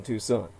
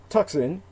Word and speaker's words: Tucson: That's Tucson, well, spelled like Tucson, Tucson, put the word "the" in